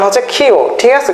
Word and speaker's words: ক্ষ: আচ্ছা আচ্ছা, এটাকে অনেকে বলে যুক্তক্ষ, হ্যাঁ, অনেকে বলে হচ্ছে কি ক্ষীয়। আসল উচ্চারণ হচ্ছে ক্ষীয়, ঠিক আছে?